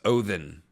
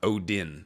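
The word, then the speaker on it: Óðinn: it's a it's a it's a different letter that's pronounced with a hard th so it's oen is actually how you say it not Odin it's Odin then Odin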